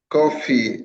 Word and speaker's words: Korfii: Kofi were I hope I pronounced your name right, Mr. Kofi. Or is it Kofi? Yeah, coffee. I think you did pronounce well.